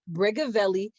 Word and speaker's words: Brigavelli: If you are interested in knowing how to pronounce her name, it is Brigavelli, giving me very much Tupac vibes.